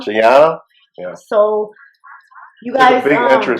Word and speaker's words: Gianna: Gianna. Gianna.